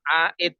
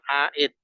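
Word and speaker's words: عائد: iya jawabannya adalah mausul Dir aid bacanya Ya bukan Dir jadi aid nanti Dir aid ya bacanya aid ainya panjang terus Hamzah Dal aidun ya Isim fail dari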